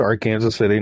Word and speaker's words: Arkansas City: And yes, in Kansas, please, we pronounced Arkansas City, not Arkansas.